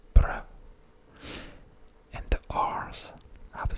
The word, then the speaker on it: brød: And just a quick word, the O with the dash, as you can see it here, is the sound so here it's brød, and the R's have a specific way in the way they sound.